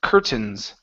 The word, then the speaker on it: curtains: uh the word curtains instead of curtains this word is pronounced curtains curtains uh one more time instead of C it's an eer sound Cur curtains curtains all